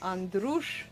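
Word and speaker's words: Andruș: my maiden name is Andrus that's a-n-d-r-u-s with a little comma underneath that makes it a shift all right so it's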